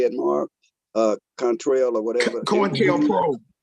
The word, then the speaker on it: COINTELPRO: COINTELPRO.